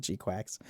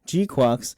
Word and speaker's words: GQuuuuuuX: So, the G-Quack or G-Quocks I almost said G-Quacks. G-Quocks was equipped with the